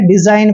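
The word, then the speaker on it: design: है ना कभी भी इसको डी सीगल नहीं पढ़ते हैं डिजाइन पढ़ते हैं जैसे आर ई एस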